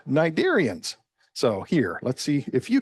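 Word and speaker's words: cnidarians: like to call the Nidarians. Now, the C is silent, but it comes from a Greek word meaning nettle.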